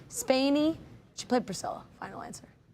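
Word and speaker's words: Spaeny: I think it's pronounced Spiny. Spany.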